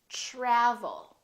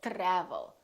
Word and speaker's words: travel: Travel. We don't say travel or travel. We say travel.